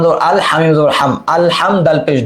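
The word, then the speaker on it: الحمد: বিসমিল্লাহি, হামজা লাম জবর আল হামিম জবর হাম, আল হাম দাল পেশ দু, আল হামদু লাম লাম লিল লাম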